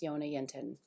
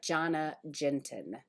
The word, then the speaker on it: Jonna Jinton: It's Jonna Yinten. Looks like Jonna Jinten. But if you hear her pronounce her own name, then you will think twice.